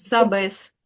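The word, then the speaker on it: sabes: Знаєте, значить сабес. Сабес. Сабеснтолог. Чому я кажу сабес? Тому що всі слова, які закінчуються на голосну s або н, мають наголос на попередній склад.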